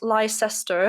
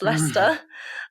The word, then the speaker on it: Leicester: a school in leicester which is not lyster it is pronounced leicester um and i gave